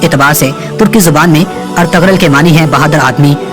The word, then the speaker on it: ارطغرل: اس نام کا صحیح تلفظ ارطغرل ہے۔ ارطغرل ترکی زبان کا